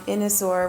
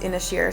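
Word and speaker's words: Inis Oírr: They have a unique culture, a lot of fascinating history, and we spent the day on Inosur, which is this actually it's pronounced Inishier.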